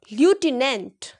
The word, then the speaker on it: lieutenant: LIEUTENANT.